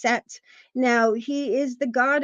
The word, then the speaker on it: Set: talked about him um his name is spelled s t or s t but it's pronounced set now he is the